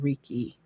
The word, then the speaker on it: Reiki: healing and nails and Reiki. Is that how you say it? Reiki.